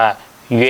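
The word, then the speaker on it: 月: นิด นึง นะ ครับ ตัว นี้ อ่าน ออก เสียง ว่า เย้ นะ ครับ มี หลัก การ ใช้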